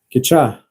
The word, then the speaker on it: кеча: Кеча. Кеча. Ударение на А.